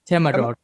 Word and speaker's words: Temagog: Temagog. It is Temagog. Oh, so it's just as it's spelled.